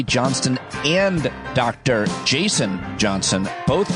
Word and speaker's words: Johnston: pleading with me to pronounce his name correctly by hitting the T.